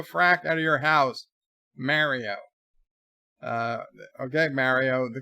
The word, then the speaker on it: Mario: robotic voice that is programmed with perfect English diction will say Mario, not Mario, because Mario is just some stupid invention by a Japanese toy company who have no idea how Italian names are pronounced.